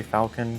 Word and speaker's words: Falcon: I prefer to say Falcon because it's spelt like Falcon. It looks like Falcon.